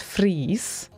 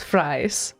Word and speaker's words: Fries: that's a Swedish so her name should be pronounced as freeze not fries what names are different